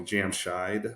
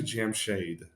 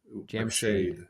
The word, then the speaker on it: Jamshid: reason the reason everyone you know calls me Jam shy with a long eye is not that that's how it's actually pronounced right but right that's how my kindergarten jamed correct it's actually Jam shade Jam shade yeah oh wow so um but that's how